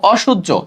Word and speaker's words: অসহ্য: বুঝতে পারো তারপর দেখো অসহ্য তাহলে অ হবে তালব্য এখন তুমি বলতে পারো অটা কেন ও হয় নাই কারণ সহ্য সহ্যের বিপরীতে অসহ্য সেজন্য অটা অতে গেছে বিপরীত শব্দ থাকলে অটা অতে যাবে তাহলে এখন তালব্য শো